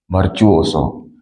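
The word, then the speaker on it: virtuoso: लता मंगर सबको क्या बोलते हैं र्च सो वर्च ओसो वर्चू ओसो उसका प्रोनाउंस तो लिखेंगे वर्चू ओसो ी आई आर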